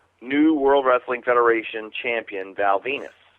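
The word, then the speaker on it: Val Venis: World Wrestling Federation Champion Val Venus is that because it rhymes with penis what it does he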